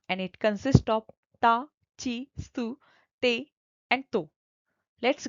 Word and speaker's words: ち: Even if it is from the T series, it should be pronounced as chi.